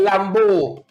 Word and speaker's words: Lambeau: There's an area in Tobago called Lambeau that rhymes with flambeau.